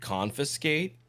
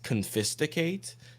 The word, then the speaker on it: confiscate: for whatever reason uh mispronounced or misread the word confiscate as confisticated so quite sophisticated there was